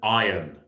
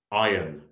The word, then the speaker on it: iron: one there is an iron iron remember that the r in iron is silent so the first one